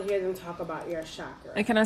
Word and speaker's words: chakra: Okay, because some people, because I have been corrected on many occasions, who pronounce it chakras, like it's supposed to be pronounced. Chakra, whatever that is. We're not pronouncing it that way, so please don't judge us. We do understand, but I think for the majority of the people that are listening to this podcast, it is chakras.